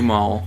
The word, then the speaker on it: Kumail: It's Kumail. Kumail Nanjiani.